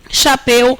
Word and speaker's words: chapéu: Isso aqui é um ditongo aberto e decrescente, em posição de oxítona.